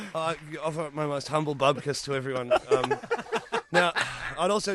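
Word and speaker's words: bupkis: I went, oh, sorry, and he went, it's bubkus. That was his only problem, was we weren't pronouncing it right.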